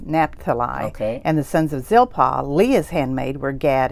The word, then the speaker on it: Zilpah: in essence bill haw and how did you pronounce her name zilpha zilpah zilpah were slaves to lee and rachel they